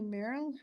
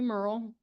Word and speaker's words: Merrill: The next speaker is Merrill with Kelly Hunsaker on deck. Welcome. My name is Merle. Everybody says her name wrong.